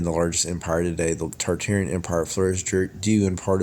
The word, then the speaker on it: Tartaria: Tartaria, originally pronounced Tataria without the first R, is the name of the pre-Molian Empire that originated in the northern Asia before spanning the entire northern hemisphere.